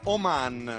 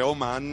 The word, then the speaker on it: Oman: È l'accento che cambia, non devo dire Oman, ma Oman.